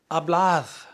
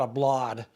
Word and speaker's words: hablad: But in the vosotros, you would say, hablad, hablad. Remember that D is kind of like a TH. It's not a blad.